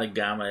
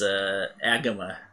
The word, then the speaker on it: Agama: It's not Agama. It's Agama. It actually is Agama. I looked it up.